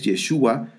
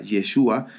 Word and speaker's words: Yeshua: en una ocasión que en el latín pues no no no pueden pronunciar fácilmente la palabra yeshua entonces eh ellos dicen yeshu yeshu y así y y pues por